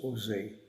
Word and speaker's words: OSE: France cared for by ose pronounced Jose a French Jewish welfare